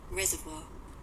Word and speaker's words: reservoir: Oceanic रिजर्वोयर, इसका pronunciation होता है, मैं सुनाती हूँ आपको, एक सेकेंड। Reservoir. ठीक है, रिजर्वोयर, ओके। रिजर्वोयर बोलते हैं बहुत सारे बच्चे, कैसे भी बोल लो, आपको याद करना है।